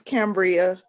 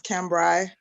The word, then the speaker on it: Cambria: It's Cambria. Cambria. Okay. Cambria, but it's AI. It's the correct pronunciation is Cambrai. Okay. Okay. But Cambria is what everybody calls me.